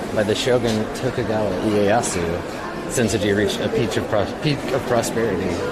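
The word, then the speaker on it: Sensō-ji: Sensoji and Asakusa, the neighborhood we're in, the two names are written using the same Chinese characters but pronounced differently. Senso being the Chinese pronunciation and Asakusa being the native Japanese.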